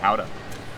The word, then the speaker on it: Gouda: order to help us prepare for Howda. that event in the Netherlands, and it's Gouda is the name of the city. Gouda, if you're familiar with American cheeses in the markets, here, that's how it's spelled.